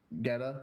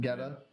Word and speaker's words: Guetta: I think it's Getta. Look up how you pronounce it. How do I? David. It's I've always heard people G-U-E. say David Guetta.